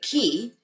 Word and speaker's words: chi: cover is called your chi, which is your energy. Many assert that the idea of crystal energy has roots in the Chinese concept of life energy, or your chi, or some pronounce it ki.